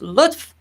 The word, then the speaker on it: lutf: freedom however by itself as an individual word pronounced luth it means kindness in both farsi and arabic